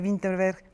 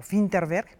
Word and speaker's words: Vinterberg: Y por otro lado, que sea Vinterberg, o Finterberg, bien pronunciado, como nos acaba de decir Wemansin, pues llama la atención